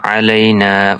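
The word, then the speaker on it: علينا: আসসালামু আলাইনা আসসালামু আলাইনালা আইন গলার মধ্য থেকে উচ্চারণ করতে হামজা আর আইন হামজা জবর আর আইন জবর অর্থাৎ পার্থক্য রয়েছে আইনের উচ্চারণ আলাদা এবং হামজার উচ্চারণ আলাদা এবং দনটার অর্থ পরিবর্তন আলাদা হয়ে যায় ওয়ালা ওয়ালা ওয়ালা ইবাদিল্লাহিস সলিহিন।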